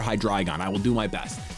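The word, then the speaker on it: Hydreigon: is filled with hydragon which you guys have corrected me on the pronunciation and I'm sorry I have to undo like 15 years of hydragon for hydragon I will do my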